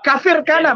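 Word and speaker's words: Kafr Kanna: Kafir Kana, bacanya itu kafir Kana.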